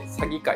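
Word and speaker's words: 鷺怪: 鳥の詐欺に怪物の怪と書いて詐欺界って読むんですけ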